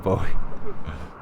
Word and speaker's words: Bowie: I don't think it's pronounced buoy. I'm pretty sure it's a Bowie knife.